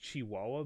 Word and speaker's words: Chihuahua: yeah I like I said I know it's pronounced Chihuahua but after this video I Chi chihua chich